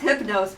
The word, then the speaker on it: Hypnos: lot of like um for instance hypnos which in English we pronounce hypnos because why in English tend to make the I sounds but actually it would be the oops salon so it should make more of a u sound from what we understand